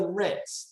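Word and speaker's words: RITMS: so what is the ritz the ritz first of all in order for you to know the m is silent it's the rutgers institute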